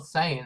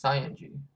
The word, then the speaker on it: Saiyan: when he goes Super Saiyan. That's how you say it. It's not Saiyan, it's Saiyan.